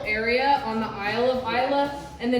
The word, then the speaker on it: Islay: So I'm sure I butchered all the pronunciations today so far, but they do tell us that this is pronounced Isla, not Islay or Islay, right?